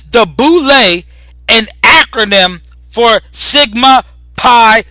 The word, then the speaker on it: Boule: And it says, it pronounced Boule, B-O-O, then it has a dash, L-A-Y, Boule. And Boule itself is spelled B-O-U-L-E.